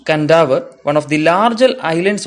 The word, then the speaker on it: Kadavu: On the island of Kadavu, pronounced Kandavu, one of the larger islands of Fiji group